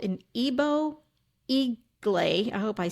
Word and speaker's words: Igbo: what it is called an Ebo Eagle. I hope I say that right. Mask. I'm This is wondering the if it's only Igbo. one. It's it's Eagle. Ebo Okay.